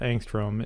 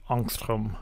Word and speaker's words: angstrom: is 2.26 angstroms now that symbol angstrom is named after a Swedish physicist and so I should really be pronouncing it anstrom as an American I've